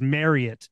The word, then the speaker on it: Marriott: employee training day one they tell you it is Marriott not Marriott it's Marriot rhymes with Cher really there go really